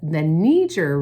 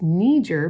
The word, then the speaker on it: Niger: But actually, the Niger River is pronounced Niger because that area was established by French people, and so they pronounce it Niger, okay?